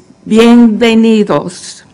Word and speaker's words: bienvenidos: And I did put in there that you put your accent on the knee and that the D is like okay.